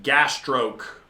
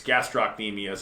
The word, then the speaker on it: gastrocnemius: to a trainer and they'll like pronounce a muscle wrong like um gas stroke gas stroke they're saying it's gastrocnemius it's one of your calf muscles but this trainer kept saying the name wrong and you know i